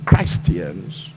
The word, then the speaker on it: Christian: a way of life the word Christian which the right pronunciation is Christ Ian's it means people like